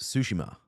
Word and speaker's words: Tsushima: It's pronounced Tsushima. Okay, good. Thank you. That's very, very helpful. I did not know how to pronounce that, but Tsushima, Ghost of Tsushima.